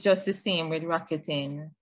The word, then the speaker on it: Rakuten: Spell it. R-A. Yes. K-U-T-E-N. K-U-T-E-N? E-N. Yeah, Rakuten.